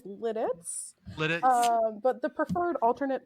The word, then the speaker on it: Lititz: Jesus Christ the uh the correct pronunciation is Lititz but the preferred alternate